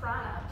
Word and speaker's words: prana: But prana, P-R-A-N-A, that is life force energy, which some of you might have heard of.